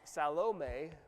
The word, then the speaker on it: Salome: We do know about Salome, bless you, is how you pronounce her name from the Greek terminology.